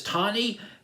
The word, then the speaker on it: Tawny: her name Tony Tony I believe I just pronounced it as Tawny Katan Katan she uh she very athletic she